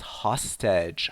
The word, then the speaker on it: hostage: also to learn is hostage hostage so we say host but Hostage to hold someone hostage